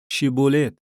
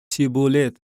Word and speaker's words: شیبولت: آنها به وی می گفتند بگوی شیبولت. ولی وی می گفت سیبولت و نمی توانست درست تلفظ نماید.